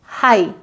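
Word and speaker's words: high: सबसे पहला एग्जाम्पल है हमारा हाई, हाई Tide, low tide समुद्र में होती है, या बहुत ऊंची बिल्डिंग है, गाना नहीं गाना है, हाई, तो यहाँ पर GH नहीं प्रोनाउंस होगा।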